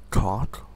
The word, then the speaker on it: coc: Let's type in, it is pronounced cock, and it's COC space QASMOKE.